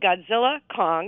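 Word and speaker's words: Godzilla x Kong: So, it's called Godzilla Kong. You're not supposed to pronounce the X, the new empire.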